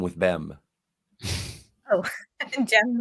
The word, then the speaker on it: Jem: Although Jem actually does feel our emotional and physical reaction. Jem does what? rhyme with Bem. Oh, Jem rhymes with Bem.